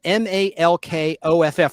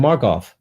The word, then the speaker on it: Malkoff: His last name is spelled Malkoff, like milk, but Malk. Malkoff. That's kind of a cool name, Markoff.